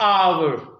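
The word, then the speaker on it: hour: word आपके सामने है आवर आवर इसमें एज साइलेंट है तो क्या बोलेंगे फिर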